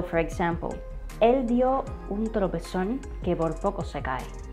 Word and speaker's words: tropezón: All right, so the first word that I bring you today is this one, trompezón. The right way to say this word is tropezón. Tropezón, tropezón.